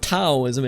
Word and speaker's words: Taoism: And by the way, I love the way that Taoism, and I learned that Taoism is not pronounced Taoism, it is Taoism.